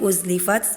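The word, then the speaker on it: أزلفت: Waidzal jannatu uzlifat itu harusnya pakai huruf alif tapi ana tadi pakai huruf ain. Jadi bacanya uzlifat tadi nanti dibenerin lagi.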